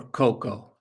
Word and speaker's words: cocoa: So, cacao or cocoa. Exactly. The a at the end is silent. Cocoa.